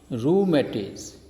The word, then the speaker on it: rheumatism: Answer is rheumatism. It is a name of disease, rheumatism. That means diseases caused by cold. The word rheu rhymes with the word kangaroo.